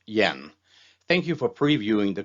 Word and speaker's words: Jan: My name is Jan Lindhardt, spelled Jan, pronounced Yen.